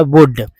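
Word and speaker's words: would: है एल ये वाला एल जो है साइलेंट है तो ओ ओ यू डी को ही पढ़ रहे हैं डब्लू को व बोलते हैं तो उच्चारण हो जाता है वुड फिर बी ई को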